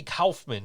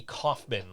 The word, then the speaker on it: Kaufman: out of the blue told me it's Andy Kaufman, not Andy Kaufman.